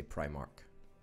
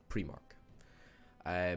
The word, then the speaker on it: Primark: primary school and therefore you should say Primark right rather than premark Welby say Primrose well